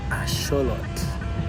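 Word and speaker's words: axolotl: There is a more correct than white people way of pronouncing axelottle. Um, but unfortunately I haven't learned the non-white people way to say it. Asholot, that's how you say that word.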